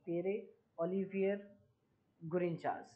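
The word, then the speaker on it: Pierre-Olivier Gourinchas: So Gita Gopinath যিনি India থেকে ছিলেন, এনাকে রিপ্লেস করেছেন এনার নাম হচ্ছে পিয়েরে ওভিয়ার গ্রনসেল। উচ্চারণটা দেখে নেবে, পিয়েরে অলিভিয়ার গ্রিনচাস।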